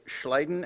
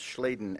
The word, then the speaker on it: Schleiden: these principles developed by Slayton and schwann also pronounce schleiden and schwann all living things have